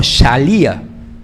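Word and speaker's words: שליחא: Había una palabra en arameo, que algo así que se pronuncia como shalía, significaba un representante oficial.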